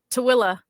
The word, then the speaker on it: Tooele: Toel. What about you, AJ? Something similar. Kale's got it. Tuel? Tooele.